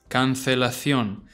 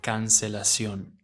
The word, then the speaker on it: cancelación: But in Spain, this will be said as cancelación. Because in Spain, when a C follows an I or an E, it sounds the same as the Z. Whereas in Latin America, this will just be cancelación.